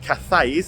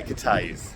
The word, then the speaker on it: Cathays: Uh pub number one and it is cate is the area, not cafes as it is spelled say kay.